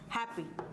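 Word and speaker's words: happy: रंग होता है यानी इसको हम हैप्पी नहीं बोलेंगे इसका सही इंग्लिश में प्रोनाउंस एशन है हैप्पी क्या है हैप्पी तो इसका जो स्ट्रेस है वो ए प जाता है किस पे ए पे जा जाता है हैप्पी फिर है पपी बहुत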